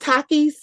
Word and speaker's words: Takis: Oh, someone said, okay, is it pronounced Takis? Mhm. Yeah. Because they were trying to eat those for breakfast. Are they like chips? I was No. like, oh, Takis.